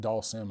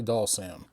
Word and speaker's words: Dhalsim: I say Dhalsim, but I'm from the South and every vowel has a long sound down here.